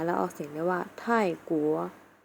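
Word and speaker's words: 泰国: ประเทศ ไทย ราคา แล้ว ออก เสียง นะ ว่า ไท่กั๋ว ไท่กั๋ว อัน นี้ ก็ เป็น ปี่ ชุด เหมือน เดิม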